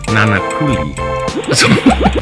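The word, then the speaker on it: Nānākuli: It should be pronounced nanakuli.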